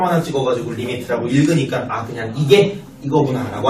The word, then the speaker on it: lim: 여기에 점 하나 찍어가지고 리미트라고 읽으니까 그냥 이게 이거구나 라고 알면 될 것 같아. 요 소리 됐냐? 네. 자, 앞으로 리미트라고 할 거고요.